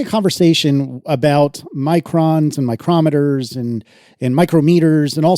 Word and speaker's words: micrometer: In spoken English, they are distinguished by pronunciation as the name of the measuring device is stressed on the second syllable, micrometer. Whereas the unit name places the stress on the first syllable, micrometer, but that's why no one says micrometer.